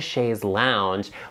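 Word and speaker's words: chaise longue: beautiful in your home I love a shae's lounge when it's pronounced correctly and don't be in the comment section calling it a fainting couch okay it's a shaze let's get it together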